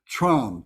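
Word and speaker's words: Tram: show you but the the English translation the word is trom t-r-a-m so that would be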